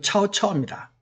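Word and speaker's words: 曹操: 그 다음에 우리 조조, 삼국지 조조 있죠, 그죠? 조조는 중국식 발음으로는 차오차오입니다. 차오차오인데 우리는 그냥 조조죠, 그죠?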